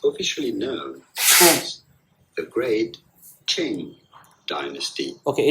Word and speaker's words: Qing: This uprising overthrew the Qing dynasty. Okay, I don't know how to pronounce this.